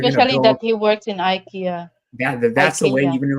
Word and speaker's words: Ikea: right here I a i u IA Ika Ikea but but in like some other some other